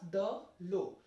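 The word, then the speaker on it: de l'eau: Together it will be pronounced as the low.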